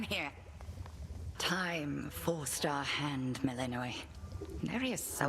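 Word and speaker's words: Melinoë: Time forced our hand, Melinoe. Nary a soul Melinoe. expected you to Okay, slay that's our how you enemy pronounce it.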